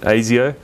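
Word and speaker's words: Asio: the name comes from it is actually the name of the um the basically secret police sort of equivalent in uh in Australia um well yeah we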